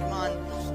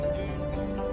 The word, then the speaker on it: Mun: to say it, because I always pronounced it as Mun, then I realised it was actually meant to be pronounced moon, and I've kept on calling it Mun afterwards.